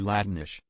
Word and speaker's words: Latinx: is Latino also if latinx is properly pronounced in Spanish would be latinish x equals sh sound yeah it's because for